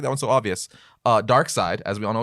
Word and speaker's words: Darkseid: seen an amount of people that say dark seed instead of Darkseid yeah I've heard people